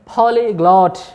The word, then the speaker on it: polyglot: ठीक है, ये इसका करेक्ट प्रोनाउंसिएशन है, पॉलीग्लॉट, पॉलीग्लॉट, पॉलीग्लॉट।